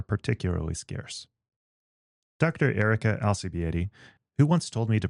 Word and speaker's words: Alcibiade: Erica Alcieted, who once told me to pronounce her name using the letters L, C, B, A, and D, is an assistant professor